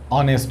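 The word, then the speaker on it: honest: है ns160 यहां पर एक है फिर मी ऑनेस्ट इसको बुलाकर साइलेंट होता है प्रोडक्शन और हैं इसलिए एंड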